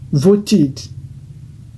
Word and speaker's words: voted: Vote là, quand c'est ED maintenant, ça fait voted.